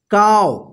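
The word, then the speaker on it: calve: तो देखिए यहां पे व से पहले एल आया है ना तो यहां पे एल साइलेंट होगा ठीक है ना काव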